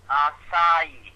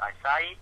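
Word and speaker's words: açaí: te okay and it's it's pronounced a it's pronounced aai aai it's pronounced aai okay and if you put that into p.gov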